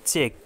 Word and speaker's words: chalk: CHALK, চক মানে ঘড়ি, খড়ি, এখানে কিন্তু এল উচ্চারিত হয়নি।